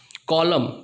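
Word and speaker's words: column: कॉलम, इसको कॉलम पढ़ेंगे, एन पढ़ ही नहीं पाएंगे आप कितना भी ट्राई कर लो।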